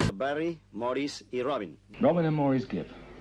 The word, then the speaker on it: Maurice: Barry Morris Robin normally more is given his name is spelled Maurice I was named after